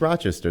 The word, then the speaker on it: Rochester: It's just Rochester. There's no, like, funny way of saying it. Rochester. No, we don't talk Rochester.